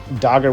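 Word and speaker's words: Dagr: spend much time on dagger at all because i made an entire video on dagger but tldr dagger is well i should say dogger because that's how you pronounce her name dogger is going to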